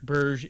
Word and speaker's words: Borg: on the cover but i've been assured that it's actually pronounced burj it is a swedish